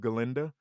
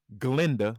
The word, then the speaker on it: Glinda: she's super talented, but I also said her portrayal of Glinda or Glinda because the A is silent.